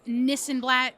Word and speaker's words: Nissenblatt: Okay, so we have Nissenlat. Am I saying your name right? I say Nissenlat sounds like this and that, but like I cannot be the judge of how people say.